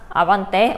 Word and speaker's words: 아반떼: 아반때 4 잘 했어요 근데 사실 아반때 한국말 발음으로 도 그냥 우리가 일상적으로 했던 말로도 굉장히 스페인어 스러운 발음 이었죠 그래서 아반떼 아 만 때 이런 식으로 읽으시면 됩니다 아반떼 라는 것도 이제